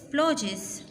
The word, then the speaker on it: splodges: Fifth is splodges. Splodges. D is silent.